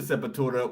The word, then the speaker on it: Sepultura: who got me into Sepultura was Brazilian himself. Yeah, of course. So I pronounce it that way. the real way, yeah, Sepultura.